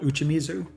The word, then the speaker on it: uchimizu: The practice is called uchimizu, pronounced "oo-chee-mee-zoo", and it goes back to the Edo period in the 17th century.